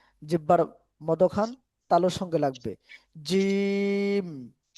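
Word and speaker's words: جيم: আলিফ বা বা তা সা জিম জিম জিম জিম জিম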